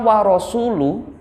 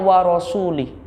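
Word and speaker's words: وَرَسُولُهُ: berlepas dari orang musyrik kata warasulu orang membacanya warosulih itu maknanya sudah berbalik maka orang tadi orang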